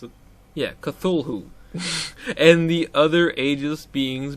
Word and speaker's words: Cthulhu: Yeah, Cthulhu drives you insane.